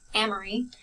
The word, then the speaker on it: Amory: trying to convey so when I say my name amory I put this the emphasis on the am and when I talk